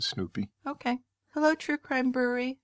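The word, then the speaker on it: Snupie: It's not spelled like the dog Snoopy. It's S-N-U-P-I-E, but I think that's how you pronounce it. Well, I pronounce it Snoopy.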